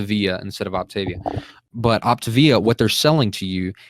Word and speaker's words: Optavia: eopt a it looks like it should be pronounced Octavia but it's opt to via and that's why they put freaking opt and bolts you'll say op the OP the via instead of Octavia but opt via what they're selling to you is there people